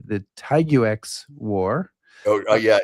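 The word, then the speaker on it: Tiguex: I may not say this word correctly, the Taiguex War. Yeah, it's really hard to. I've tried to pronounce it for years, but it's still tricky. It's Tiwish.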